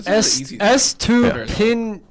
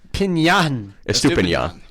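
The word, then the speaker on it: Estupiñán: It is actually pronounced Purvis. Yeah, his first. Well, the full name, Purvis. Estupinian. Estupinian.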